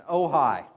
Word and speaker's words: Ojai: We actually got to meet one of your regulators in Ojai.